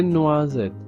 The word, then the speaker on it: noisettes: Ce sont des noisettes. Donc de nouveau, le S est entre le I et le E. Donc on prononce Z.